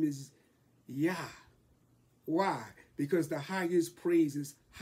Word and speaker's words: Jah: But we know, since there was no J in the Bible, in the English alphabet, it has to be pronounced Yah.